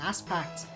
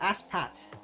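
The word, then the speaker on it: AskPat: I expected then definitely he called me ass packed oh nope it's uh ask Pat ask Pat whoops I know now you got me saying my name wrong that's all good but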